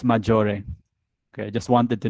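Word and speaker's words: Maggiore: do you pronounce that let's learn how to pronounce things okay let's do the here we go it's majori okay i just wanted to know before i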